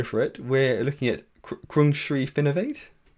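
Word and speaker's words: Krungsri Finnovate: at and actually Sam I'm good I'm gonna mispronounce this so I'm gonna go for it we're looking at crunch Reef innovate correct excellent yes excellent and Sam I'm also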